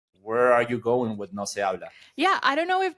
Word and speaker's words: No Se Habla: Is it no se habla? That's the way you're pronouncing it?